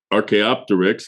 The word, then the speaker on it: Archaeopteryx: Yeah, I guess prior to Archaeopteryx, I hope I'm saying it right.